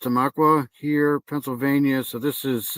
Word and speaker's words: Tamaqua: So here's this is where I'm pretty sure it's pronounced Tamaqua here, Pennsylvania.